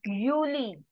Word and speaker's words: Juli: is called as this word can you try pronouncing this yourself it is juli Juni juli Yi juli okay we have done